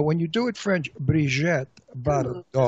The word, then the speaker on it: Brigitte Bardot: No, you have to say it French because when you say it in French, it's sexy.